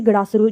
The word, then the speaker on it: गड़ासरू: मणिमहेश है, गड़ासरू है, ठीक है, अगर मैं सही प्रोनाउंसिएशन कर रही हूँ कि गड़ासरू झील, यस गड़ासरू ही बोलते हैं इसे।